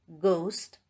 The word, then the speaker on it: ghost: H is not pronounced when it comes after C, G, R. For example, choir, ghost, rhyme, etc.